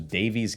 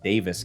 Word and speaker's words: Daviess: Number one, pronunciation. I thought this was Daviess County for the longest time. I was quickly corrected, checked it out online. Looks like it's pronounced Daviess County.